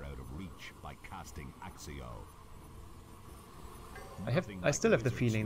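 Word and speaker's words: Accio: Akio? Oh, okay, that's how you pronounce it.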